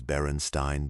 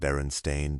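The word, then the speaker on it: Berenstain: Yet a surprising number of adults insist the name was Baronstein Bears, not Baron Stain. Baronstein. Many people remember seeing it that way, pronouncing it that way, writing it that way, but every official copy says Baron Stain.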